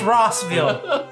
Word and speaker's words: Rossville: whiskey that you're reviewing is it rocksville or rustville rossville hey don't forget to get some rossville some russell yeah yeah yeah it's rossville he's a nebraskan i'm